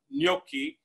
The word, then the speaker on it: gnocchi: tell if you agree know the word no and no and the word key K ey if you say no and